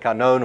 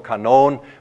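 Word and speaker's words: κανών: I'm not sure whether it printed out in your notes, but that's the way you pronounce it, kanon or kanon, with the emphasis on that last syllable.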